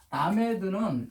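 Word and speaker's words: למד: 이 라메드는 하나님의 가르침을 뜻하는데, 하나님의 가르침이지만 라메드는 또 제자라는 뜻도 있거든요. 자, 라메드는 글씨를요 이렇게 씁니다.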